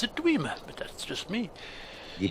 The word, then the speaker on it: Dwemer: I pronounce it Dwemer, but that's just me.